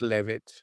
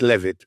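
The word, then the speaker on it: Leavitt: We all know it's pronounced Levit. Yeah, but it doesn't work as a pun that way, does it? Exactly. So the jokes have to work. So yes, it's Levit, but we will pronounce it leave it quite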